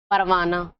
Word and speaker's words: پروانہ: اور ہائے مختفی جس میں ہاں پتہ نہ چلتی ہو، جیسے دیکھیے راستہ، پروانہ، تو اس میں ہاں جو ہے وہ پتہ نہیں چلے تو یہ ہائے مختفی ہے.